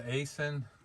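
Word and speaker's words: Aisin: it has a uh I think it's the Asin is how you say it six speed it's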